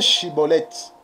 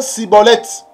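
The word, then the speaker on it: Shibboleth: Donc pour ne pas être saisi, il faut bien prononcer Chiboleth. Il ne faut pas prononcer Siboleth.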